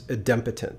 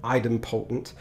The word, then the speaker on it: idempotent: Now, whenever you talk about the HTTP methods, one of the terms that you have to mention is idempotent. Some people mispronounce it idempotent. It's actually idempotent.